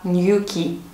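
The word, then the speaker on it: Newquay: про город ньокки точнее по-русски это будет звучать new клей но давайте произносить правильно по-английски англичане называют этот город new key как я и говорила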